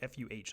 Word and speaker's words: pho: It's literally pho. It's like FUH, like pho.